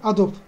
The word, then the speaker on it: Adobe: tasarımıyla ilgilenenler Adobe duymuştur adob Adobe diye yazılır da aslında Adobe diye okunur doğrusu da budur Adobe yazılımlarını duymuştur eee